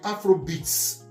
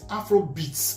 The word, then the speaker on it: Afrobeat: And it's a shame that in Nigeria today, the Afrobeats, my pronunciation is Afrobeat, which is Fela's creation. Yes. And it's Afrobeats. I don't know who decided they were going to use that S and add to Afrobeats, and which is making